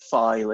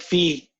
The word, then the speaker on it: phi: you pronounce it Kawika you pronounce it slightly differently from me you see you again see like if I like fee right so you see fee and I see fi so they're pretty close